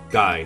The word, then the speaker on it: Guy: It's pronounced Guy, not Gee.